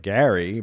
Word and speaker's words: Gerry: Gary's name is pronounced like Gary, but Americans now pronounce it like Jerry.